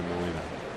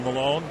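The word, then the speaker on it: Milone: I think I said his name wrong, Richard. Tommy Malone. Malone, what did I say, Molina?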